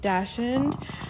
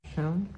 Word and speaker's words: Dachshund: because I want like either some type of Dachshund or like a Chihuahua weenie dog mix. What did you say? Dachshund?